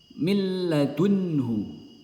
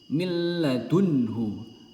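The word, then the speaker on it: مِن لَّدُنْهُ: ro diingat-ingat cara membacanya milladunhu milladunhu ya Jadi huruf nun tidak terbaca melainkan melebur langsung ke huruf lam Mil Mil milladunhu dan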